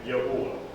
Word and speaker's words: Yahuah: we're doing this now, correctly pronounced, the way that I'm seeing it, is that you have Yah, which is the Yod, and the Hey, said together, Yah, because it's not Yah. It's not Yahuah. So we have Yah, and then we have the Yod, which is Hu. So we have Yahu, Yahuah. Okay, Yahuah. That would be about the best pronunciation.